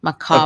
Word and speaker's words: macabre: Macabre. Apparently, there's like three ways. I looked it up, but macabre is the way that I say it. I say Mac- macabre.